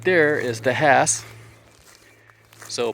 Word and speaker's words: Hass: So, right there is the Hass. So, pronounced with the H in front of kind of like a donkey and or or actually green grass.